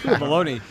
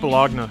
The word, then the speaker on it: bologna: baloney and no boots baloney the most famous Italian meat it's pronounced Bologna come on oh Adam